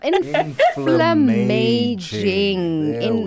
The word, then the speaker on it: inflammaging: In in we talk about inflammaging. inflam inflammaging not inflation. It's a combination of inflammation and aging.